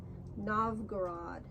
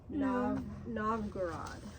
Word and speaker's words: Novgorod: Novgorod. Oh, I said it wrong. Novgorod.